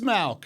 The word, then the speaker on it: Mauch: I've got a pronunciation here. Ready? Cody Mauch. It is Malk.